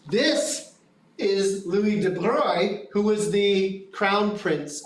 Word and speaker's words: Louis de Broglie: This is Louis de Broglie, and I pronounced that correctly.